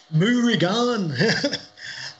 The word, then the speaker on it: Morgan: and morgan uh and if you want the celtic pronunciation of morgan no you're like am i doing it i can't do it it's moorigan and i'm amazed that